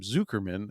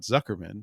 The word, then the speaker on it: Zuckerman: by Ethan zukerman that he pronounces his name zukerman and not Zuckerman so it's zukerman versus